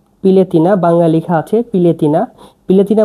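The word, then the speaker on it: piletina: মুরগির মাংসকে সারবিয়ানে বলা হয় পিলেতিনা।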